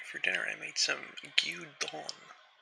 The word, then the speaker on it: gyudon: And by the way, for dinner I made some gyudon. I think it's pronounced gyudon.